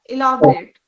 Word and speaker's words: elaborate: Elaborate. Uh, it's elaborate because we are stressing on a syllable. Almost break it down into unit of sounds, right? Elaborate. How many? Four syllables. Where is the stress?